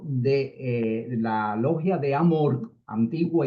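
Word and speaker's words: AMORC: Pero en el caso de eh la logia de Amork, antigua y mística orden de la Rosa Cruz, termina en la C. Por eso Amork es la la pronunciación.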